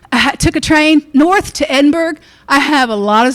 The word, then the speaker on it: Edinburgh: um then we took a train north to Edinburgh. I have a lot of stories about this, but I won't share them today. Uh they'll come up again. Oh my gosh, is all I can say. Edinburg. Edinburgh, let me say it right.